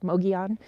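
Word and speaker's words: Mogollon: mountains here and that's because we're near the mogion rim and it kind of looks like Moga lawn Rim but it's pronounced mogion and what happens is the winds just kind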